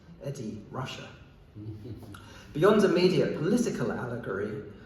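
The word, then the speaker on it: Ed Ruscha: Incidentally, around that time, Rushcher printed a faux phonetic version of his name on cards he handed out to help people pronounce it. Eddie Russia.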